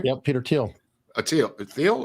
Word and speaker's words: Thiel: Thiel or Teal? I think he says it as Teal, but it's spelled Thiel.